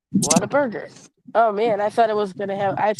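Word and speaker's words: Whataburger: got a water Burger that's actually pronounced the way it's it's written what a burger oh man I thought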